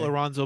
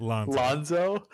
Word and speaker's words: Lonzo: How about Lorenzo Ball takes a month off with the Pelicans because he needs rest? Did you say Lorenzo? Lorenzo. How do you say it? Lonzo? You added a syllable.